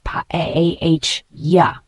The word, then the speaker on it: paella: The pronunciation is paella.